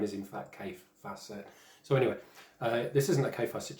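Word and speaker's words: Kaffe Fassett: but that's uh fans mike um and he's pronounced k facet for anyone that knows the name and calls him kathy facet and all this rubbish um i know i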